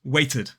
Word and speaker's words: waited: The correct answer is waited. Waited. Now that's because, of course, the base word ends in t. And look again at how that t moves over to the final syllable.